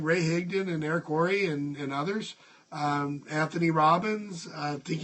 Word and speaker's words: Worre: I don't know why I can't pronounce that name. W-O-R-R-E, Worre.